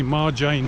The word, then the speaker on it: Marjan: to a viewpoint called Marjan. You don't pronounce the J. It sounds like to me Marjan Hill, which is a viewpoint over a Split and over the bay and harbour.